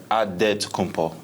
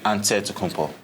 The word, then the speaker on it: Antetokounmpo: In the Nigerian way, you gotta say with a D, so it's Antetokounmpo. But in the Greek way, you say with the NT, like Antetokounmpo.